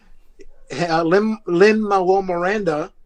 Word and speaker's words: Lin-Manuel Miranda: Lin-Manuel Miranda, that's how you say his name, actually came